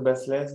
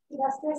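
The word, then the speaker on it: Baslez: Ça, c'est Marie-Françoise Basselès dans Après Jésus, page 470. Tout le livre s'appelle Après Jésus? Oui. Et c'est tout le début du... Basselès, ça s'écrit B-A-S-L-E-Z.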